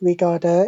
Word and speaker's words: regarde: And of course, the last one is silent, no R at the end. So instead of regarder, it's regarde, regarde, regarde.